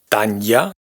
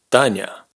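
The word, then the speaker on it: Таня: No es Tanya ni Tania, sino Tanya. Tañ-a, Tanya. Ña, ña.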